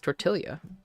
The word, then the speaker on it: tortilla: Because they know that I'm the one person that can pronounce it correctly. Because nobody else wants to admit that that's the correct way to pronounce it. It's tortilla.